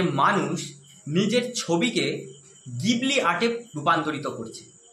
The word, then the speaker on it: Ghibli: আজকাল আপনারা ইন্টারনেট খুললেই দেখতে পাবেন যে মানুষ নিজের ছবিকে গিবলি আর্টে রূপান্তরিত করছে। যার আসল উচ্চারণ জিবলি।